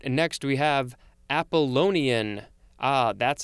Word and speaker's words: Apollonian: All right, next we have Apollonian. Ah, that's how you pronounce that word.